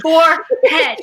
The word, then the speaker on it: forehead: she is thank you it's for head forehead that's how it's spelled that's how it's pronounced it's not even a